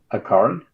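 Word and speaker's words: Accorin: Aaron. Yeah. What? How do you spell it?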